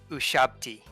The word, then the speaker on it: Ushabti: How do you pronounce the sarcophaguses that Qilin hatches out of? Oh, Ushabti.